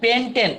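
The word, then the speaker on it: pentane: তো এখানে চেনার জন্য এন কথাটা, অর্থাৎ পেন্টেন উচ্চারণটা এন এর মতো হচ্ছে, চেনার জন্য যে এখানে একক বন্ধন অর্থাৎ কার্বন কার্বন একক বন্ধন হতে হবে।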